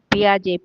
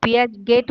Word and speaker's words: Piaget: ଶୁଣିଛ ଜିନ୍ ପିଆଜେଙ୍କର ଜିନ୍ ଜେନ୍ ପିଆଜେ PIAGET କିନ୍ତୁ ପିଆଗେଟ୍ ବୋଲି ତାଙ୍କୁ pronunciation ହୁଏନି ଜିନ୍ ପିଆଜେ.